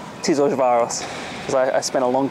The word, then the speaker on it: Tiszaújváros: Now, I couldn't spell that, but it's Tiszaújváros, because I spent a long time trying to learn it.